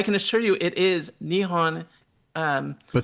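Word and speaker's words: 日本: So, so, so Nepon is what some westerners if you are in Japan and you want to refer to Japan in Japanese it is nihon okay she's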